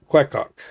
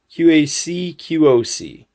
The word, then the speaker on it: QacQoc: The people from QacQoc, and that is how you pronounce it, QacQoc, QacQoc.